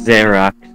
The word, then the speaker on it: Zereax: Yeah, for a guy, you can't even say his name right. It's in his, channel description. It's Zeraex. Is it really? Yeah. Wow, that's how you know it's bad, when you have to tell people how it's pronounced.